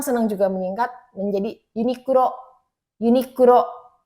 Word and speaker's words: Uniqlo: Uniqlo pengucapannya seperti itu.